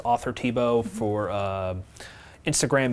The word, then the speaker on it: Thibeault: with it on there Tebow Tebow is very French and the H is silent so a lot of